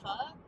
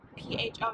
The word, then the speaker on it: pho: think it's not, like, P-H-O, you don't pronounce it like pho, it's, like, pho, or something, it's not how Americans say it, because that Americans want to make everything easier instead of learning the correct way to say the word.